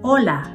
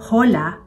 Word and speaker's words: hola: Katulad ng salitang hola. 'Di ba? Hindi yan sinasabing hola kundi hola. So h, silent yan basta kahit na anong salitang makita niyo sa Espanyol.